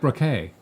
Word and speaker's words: Braque: You say it like Braque. That's French. Braque.